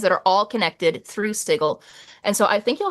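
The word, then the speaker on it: Sigil: Like if you start your campaign in the lower ward, you want to be on this channel and call it Sigle. You have to pronounce it.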